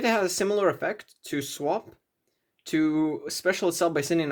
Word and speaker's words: Swap: one Ronin three uh swap rocks I I always pronounce this wrong but it's swap not swamp because it has the more